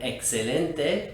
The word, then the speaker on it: excelente: as in the word excelente which you guessed it means excellent it's pronounced exactly like the x would be in english thanks so much for